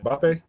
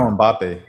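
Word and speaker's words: Mbappé: Oh, you talking about Mbappe? Mbapp. Yeah. Yeah, I know Mbappe.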